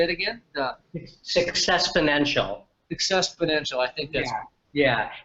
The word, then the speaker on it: Successponential: The Successponential. Successponential. I think that's. Yeah. In fact, you can, and it's spelled exactly the way it sounds.